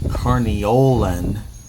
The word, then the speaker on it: Carniolan: up the differences between carniolan that's the way it's pronounced for italian those are